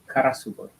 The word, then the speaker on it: Karasugoi: How do you pronounce the Karasugoi? Karasugoi.